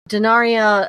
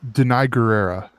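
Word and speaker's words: Danai Gurira: Between Angela Bassett, obviously Denaria, I always pronounce her name wrong, and I should get it right because I call her Michonne, but I do it, It's Denai Guerrera.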